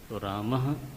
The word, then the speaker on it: रामः: संकोच से करते हैं लोग क ऐसा बोलते हैं क राम रामः ऐसा नहीं है रामः विसर्ग में पूरा ह है आधा ह नहीं है विसर्ग में रामाहा